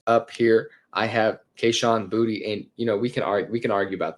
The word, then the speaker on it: Boutte: It is Boutte apparently, and I was saying it wrong for a long time too. It is Kayshon Boutte.